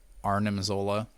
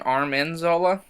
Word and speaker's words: Arnim Zola: soldiers, and then I've got the Arnim Zola. What's his name, George? You saw the comment though, right? Arnim Yeah. Zola. Did you know that? I think I did. Were you saying Armin Zola?